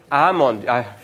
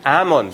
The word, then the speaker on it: almond: yourself and make annual almond mink sorry Ammond I always forget that you should not pronounce the L in Almond so it should be Ammond like anold AB be